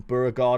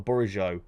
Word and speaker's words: Bourigeaud: You won Beauregard a few weeks ago. That's a really nice pickup. Super Rare Beauregard, or Bourigeaud, as he's pronounced, is a great pickup.